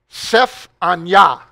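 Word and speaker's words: צפניה: So let's begin our consideration with the prophet Sephaniah. And Randy will have to help me with my pronunciation later, but that is the Hebrew for the prophet Zephaniah.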